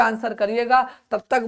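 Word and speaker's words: Chara: जल्दी से आंसर करिएगा।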